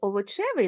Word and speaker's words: овочевий: плюшевий на закінчення А на наголос наголос падає на корінь а наприклад у слові овочевий наголос падає на суфікс А коли у нас